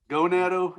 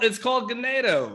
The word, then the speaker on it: Ganado: Gonado? Anwar, you go to Gonado? Look. Boys trip? No, it's called Ganado or something Ganado, like vaguely that.